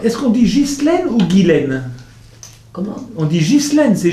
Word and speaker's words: Ghislaine: D'abord, est-ce qu'on dit Ghislaine ou Guylaine? Comment? On dit Ghislaine, c'est Ghislaine votre prénom? Non, c'est Guylaine.